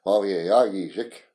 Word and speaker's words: Wawegijik: And if you could say that, like when I gave my original family name, it's spelled Wawegijik, English pronunciation. But if you go back and find the original translation, you'd say Wawegijik.